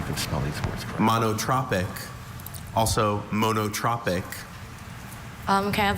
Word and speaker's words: monotropic: The bees, while not strictly monotropic, clearly preferred the white clover to the equally abundant alpine bistor.